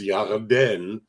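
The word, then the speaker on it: ירדן: dear, well, the first problem is Yarden is stressed on the second syllable, and Jordan in English is stressed on the first syllable.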